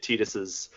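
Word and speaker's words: Tidus: And I still do those damn chocobo races to get Titus's. By the way, I'm going to call him Titus because that's, in my opinion, the correct pronunciation.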